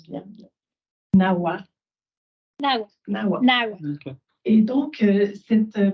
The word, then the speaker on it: Nahua: Balderas s'intitulent Agentivité et pratiques socioculturelles des enfants Nahua en situation de handicap dans la région sud de la Huasteca Potosina au Mexique. Est-ce que je prononce bien? Nahua.